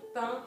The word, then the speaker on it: pain: And pain is the nasal sound, same as in vin, wine, pain au chocolat.